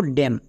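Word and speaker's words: damn: এম এর পরে যদি এন থাকে তাহলে এন সাইলেন্ট থাকবে। এম কিন্তু না। যেমন একটা এক্সাম্পল দেখো ড্যাম।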